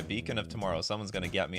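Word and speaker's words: Beacon of Tomorrows: cards in this game beckon of tomorrow's or beacon sorry beacon of tomorrow someone's going to get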